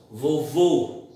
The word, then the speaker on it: vovô: Quando a pronúncia for aberta, o acento é agudo, como por exemplo cipó, ó. Se a pronúncia for fechada, nós vamos trabalhar com circunflexo, vovô, o. Então, ó é aberto, ou é fechado.